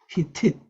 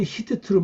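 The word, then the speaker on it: חִתִּית: 그냥 짧게 하면 히트면 히트 이렇게 발음이 돼요. 히tit. 보통은 히트트로 많이 발음하는데 짧게 빨리 할 때 이게 히tit 이렇게 나옵니다.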